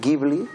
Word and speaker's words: Ghibli: Hi ha gent que diu Ghibli, i està ben dit, i Ghibli també està ben dit.